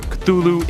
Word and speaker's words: Cthulhu: should be noted that lovecraft originally intended the name to be pronounced closer to because it originates in an alien language that can't be properly spoken by humans however the easier form cthulhu is more prevalent so that's what i'll be using in this